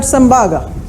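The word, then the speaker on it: Tsembaga: T is silent, we call it Sembaga.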